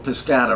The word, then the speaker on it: Piscator: new school with Irwin piscator or piscat I don't know how you pronounce that name Elaine strich pronounces his name piscat and she studied with him so I'm deferring to m Rich yeah so I'll call him piscat but Robert Lewis uh